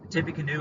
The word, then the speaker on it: Tippecanoe: battle to take place is this battle called tiffany canoe tippecanoe is spelled t-i-p-p e c a n o e